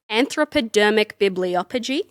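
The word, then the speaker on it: anthropodermic bibliopegy: all about uh and i'm gonna butcher the pronunciation here anthropodermic bibliophogy okay that sounded correct thank you so i'm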